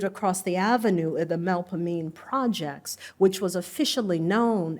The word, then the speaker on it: Melpomene: in with an O as in body, me with an E that sounds like the I in which. See, I can't even do it, and it's renowned for me. And a concluding long stress syllable, ni, with an E as in we or free.